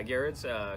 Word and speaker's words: Gerads: Gerads? Yeah, Gerads. Cully told me earlier. Oh, okay. He says that, or it's pronounced Garrett.